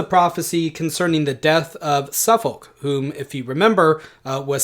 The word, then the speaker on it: Suffolk: So we would say Suffolk, but there's an L there, right?